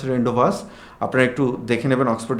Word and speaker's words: rendezvous: এটা হচ্ছে আমরা যদি মানে এমনিতে যদি উচ্চারণ করি রেন্ডিজোভস। কিন্তু রেন্ডিজোভস এটার উচ্চারণ না। এটার উচ্চারণ রেন্ডস।